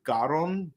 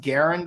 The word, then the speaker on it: Garon: Earth Garen and yeah like I was thinking like it's supposed to be Earth gon but uh the but the English stuff they pronounced it Garen so yeah that's what